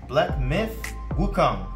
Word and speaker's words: Wukong: So, today we are going to be talking about Black Myth Wukong.